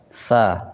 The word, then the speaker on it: ث: Ujungnya kita tempelkan di ujung gigi seri atas.